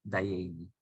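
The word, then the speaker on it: דיינו: las estrofas del poema Dayeinu, suficiente para nosotros, de la Haggadá de Pesaj. Y eran de esos judíos de Galicia, Europa del Este, que no pronuncian Dayeinu, sino Dayeini.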